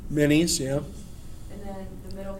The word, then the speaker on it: Menes: And it says Menes. That's how you say it, right? Minis, yeah.